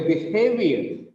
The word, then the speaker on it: behavior: I'm annoyed with your behavior. With the word behavior, the second syllable is stressed.